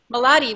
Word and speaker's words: Malati: Malati, what do you want to say? First, my name is pronounced Malati. Thank you. With quality.